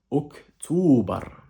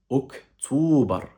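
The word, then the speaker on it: أكتوبر: Et ici, en l'occurrence, le mois d'octobre, la prononciation du mot en arabe, elle est quasiment semblable à la prononciation du mot en français. Ici, le mois d'octobre en arabe donne Oktober. Oktober. Répète après moi. Oktober.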